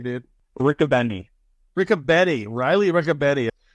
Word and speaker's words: Richobene: how do you say your last name dude Rick aenny Rick aenny Riley Rick aenny uh so the